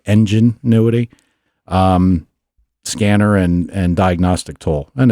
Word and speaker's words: Enginuity: I ordered a Auto Ingenuity, and it's spelled EN, like instead of ingenuity, it's like Enginuity.